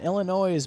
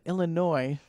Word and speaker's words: Illinois: A group of nurses in Illinois bonded a family. Did you say father. Illinois? I also say S is silent.